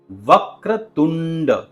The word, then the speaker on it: वक्रतुंड: सबसे पहले वक्रतुंड ध्यान दीजिए कि इसमें जो टी का साउंड है वो थोड़ा सा डेंटल आना